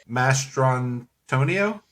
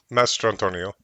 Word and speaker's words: Mastrantonio: Alan Rickman, Mary Elizabeth, Mastrantonio. Close. What is it then? Master Antonio. You got it. That is exactly what I said. That's why I said it was close. You just did the accent on the wrong part.